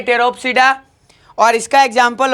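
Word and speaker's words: Pteropsida: इसमें पी फिर से साइलेंट रहेगा, इसलिए इसे पढ़ेंगे टेरोप्सिडा।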